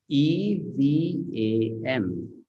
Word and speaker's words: evam: So now, how the letter E has to be pronounced? Not as E. It has to be pronounced as A. A. So it will become Evam.